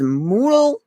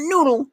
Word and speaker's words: Moodle: I would say classroom there's Moodle not noodle Moodle uh there's i-l-i-a-s I